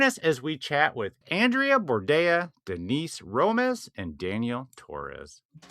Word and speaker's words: Andreea Bordea: Andrea. Bordea. Yes. Andrea Bordea. Do they rhyme? Uh, yes.